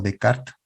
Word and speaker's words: Descartes: él debe su nombre a descartes o de carta como también se pronuncia y él tiene un